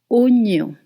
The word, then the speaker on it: oignon: So just to let you know that OI usually in French makes the sound wa. But here, actually, it's O. Oignon.